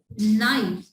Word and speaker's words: knife: The next one sentence is please give me this knife. Look at here. I tell you that when K comes before N, so K will be silent.